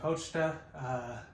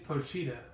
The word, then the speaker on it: Pochita: In the last episode, we saw him and Pochita. I'm actually saying it right this episode. I kept calling it Pochita last episode, but either way, I still love that dog.